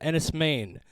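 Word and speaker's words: Enys Men: This is a movie called Ennis Main. That's spelled ENYS space MEN.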